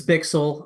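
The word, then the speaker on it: Bichsel: It's Bixel.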